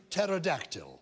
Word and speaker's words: pterodactyl: Do you mean as in pterodactyl? But why are you being klaxony? Is that not Greek in origin? It is Greek in origin. So it has a silent P because we don't pronounce the P.